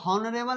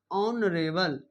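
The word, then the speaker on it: honorable: अब यहां प नरेल इसको हॉनरेबल नहीं कहते इसको बोलते नरेल इसको बोलते हैं नरे बल नरे बल नरे बल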